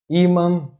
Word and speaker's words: ímã: The next tip is: if a word has two accent marks the stressed syllable is that one which has "acento agudo"or "acento circunflexo", because in this case "til" is just a nasal mark.